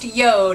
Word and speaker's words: JORD: that it spelled George Jo Rd but it's pronounced Yoda it's actually a Norse word that means earth